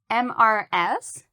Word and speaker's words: Mrs.: Mrs. is spelt M-R-S, and it has two syllables, Mrs.